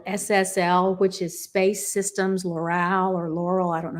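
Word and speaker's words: Loral: a thing called SSL which is Space Systems Laural or Laurel I don't know how to pronounce that l o r a l Laural okay anyway um and that program what I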